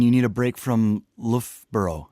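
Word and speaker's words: Loughborough: And Danny, what do you do when you need a break from Lofboro? Am I am I pronouncing that correctly? You you are indeed Lra.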